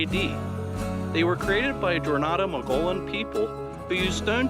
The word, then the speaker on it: Coronado: I mispronounced Coronado. I'm sorry. It's pronounced Coronado, not Coronado.